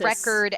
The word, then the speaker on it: record: What you learn in phonology is that you can put stress on different syllables in a word. So, like I was saying, record versus record, you're putting the stress on different syllables. Record has the stress on the first syllable, re. Record has the stress on the second syllable, which is cord.